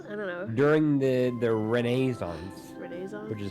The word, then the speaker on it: Renaissance: During the Renaissance, Renaissance? which is how you pronounce it.